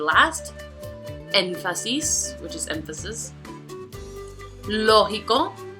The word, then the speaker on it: lógico: Lógico. Aquí tenemos 3 syllables. So again, the prosodic accent is going to be on the first, which is the third to the last.